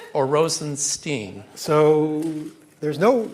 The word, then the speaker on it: Rosenstein: pronounce your that's right is it is it Rosenstein or Rosenstein so there's no right answer to that question my family my father pronounces it Stine that's how I pronounce it but I actually